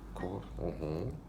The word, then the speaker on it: cor: Core. Core. Real Latin pronunciation, core.